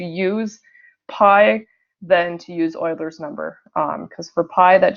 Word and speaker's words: Euler: from Leonard Euler so it looks like it's Euler but it's pronounced Euler so he decided to use the